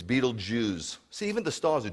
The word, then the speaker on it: Betelgeuse: by the way this billions of galaxies it's Betelgeuse see even the stars a Jewish that's how to pronounce that really Betelgeuse okay so 1.3 million earths fit inside the